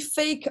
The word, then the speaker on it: PHEIC: la petite histoire André ça s'écrit fake en anglais ça s'écrit pheic en prononce comme fake comme fake news c'est rigolo mais dites-moi